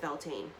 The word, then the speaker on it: Beltane: And there is different ways this could be pronounced, but it's the way I pronounce it, Beltane.